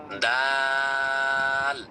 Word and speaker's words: দাল: Just মুখটা একটু খুলে মুখটা একটু খুলে আপনি সুন্দর করে দ আকার আল ল উচ্চারণ করবেন তবে টান দিবেন দা দাল অর্থাৎ শেষে গিয়ে লর সাথে সংযুক্ত করে দিবেন অনেকে আবার না বুঝে বলে দাল দাল এমনটা করবেন না বলবেন আচ্ছা এই দাল অক্ষরটির মাখরাজ কি?